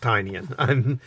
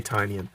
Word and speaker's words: Tynion: Now, one of the things I really liked about Tynion's run, I think it's pronounced Tynion. I've heard it pronounced both ways, but I'm going to say Tynion.